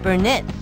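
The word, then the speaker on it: Burnitz: Hey there, I'm Jeromy Burnett. That's spelled B-U-R-N-I-T-Z.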